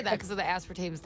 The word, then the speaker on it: aspartame: Aspartame?